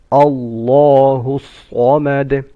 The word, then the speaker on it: الصمد: Allahu samad. Allahu. The name of Allah is full mouth. Samad. Sad should be full mouth. And you make qalqala on dal.